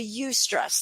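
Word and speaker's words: eustress: it from distress into you stress that is spelled EU in the word stress which is actually the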